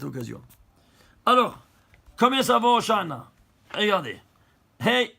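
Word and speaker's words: הושענא: Hoshana, Hoshana. Que les non-juifs, ils ont traduit, c'est intraduisible, mais ils ont gardé la prononciation. Ils ont dit Hosanna, Hosanna.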